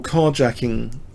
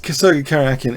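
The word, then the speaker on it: Karjakin: against Sergey karakin um or carjacking as as he's often pronounced carjacking no C karakin in fact I I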